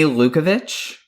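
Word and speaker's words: Lukavics: Amy Lukovich. I've known someone in the past who had a last name, the spelling ended that way, and they pronounced it like ICH.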